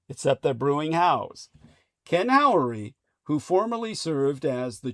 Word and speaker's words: Howery: His surname is spelled ho y like brewery except the brewing house. Ken Ory, who formerly served as